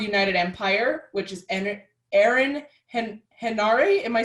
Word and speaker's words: Henare: So I've been slowly teaching myself to say Henare because that's how it's spelled.